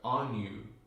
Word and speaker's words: Anu: And the Guardians remind us it's A-N-Y-U. If you look on internet, it's spelled A-N-N-U. But just add the little Y sound in there, on you.